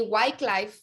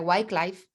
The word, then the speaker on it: Wycliffe: y por ahí Wycliffe, de hecho hay una editorial de Biblia, Wycliffe, se escribe W-Y-C-L-I-F-F-E, Wycliffe.